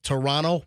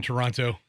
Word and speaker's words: Toronto: the road in uh Toronto over the weekend they were in Toronto no no no don't say Toronto like Tonto uh I had some Canadian rip me you don't say the T in Toronto go to Canadians for